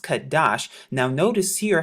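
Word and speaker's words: חֹדֶשׁ: and we're here at H 2320 now they pronounce it kodesh but in the restored translation it's pronounced kadash now notice here how they say New Moon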